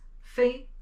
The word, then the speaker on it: 非: So this character, the pronunciation is 非.